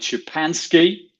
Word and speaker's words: Szczepanski: transformation in manufacturing in cpg we welcome david shapanski a multi-year cpg manufacturing veteran ready set go